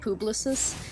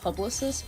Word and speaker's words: Publix: Cuz I technically work for a company called like Publix and I used to think it was called Publicist, but people pronounce it Publix and I'm like, "Oh, whoops."